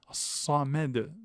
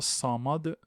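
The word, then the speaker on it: صمد: Samed non pas Samad Samad maisedamed.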